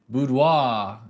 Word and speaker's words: boudoir: Now, what I shoot is boudoir, and it's a little bit of a misunderstood niche. Or you might pronounce it boudoir if you're from France, or if you're American and you wanna sound really fancy.